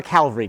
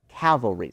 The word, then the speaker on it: cavalry: And so if you're in a bunch of trees, you can't have a calvaryary charge. Does that make sense? Cavalry. Sorry, I keep mis mispronouncing that.